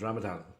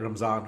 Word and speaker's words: Ramadan: so it was ramazan when I went there's Ramadan uh for those uh people who don't pronounce it correctly but it was that ramzan when I went and so I was fasting